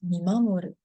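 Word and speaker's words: 見守る: This word is pronounced Mimamoru and means to be watching over someone, to watch over someone, to keep an eye on someone.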